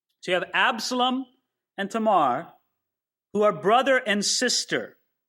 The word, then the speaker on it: Tamar: was, I've been saying Tamar, and I probably will. It's undoubtedly an incorrect pronunciation. You'd probably say her name Tamar. A's are always pronounced, never A in most other languages, but ah.